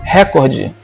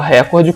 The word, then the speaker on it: recorde: Primeira palavra, recorde. Muita gente fala recorde quando na verdade a norma culta prefere a pronúncia recorde.